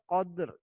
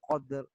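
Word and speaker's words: القدر: Di sini ada lam ta'rif, alnya dibaca jelas atau terang. Lailatul qadr.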